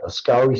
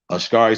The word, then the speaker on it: askari: the screen for everybody ascari soldiers real quick and then you can kill ascari soldiers ashkari soldiers yeah children a-s-k-a-r-i kind of like ask ire how do you spell